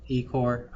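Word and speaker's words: ECCO2R: those uh and then extra corporeal CO2 removal which is pronounced as Ecore.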